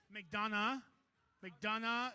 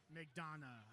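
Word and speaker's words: McDonough: it right not once how you say it McDon McDon Georgia not like that I'll tell you that 5203 G Gremlins McDonna okay are you ready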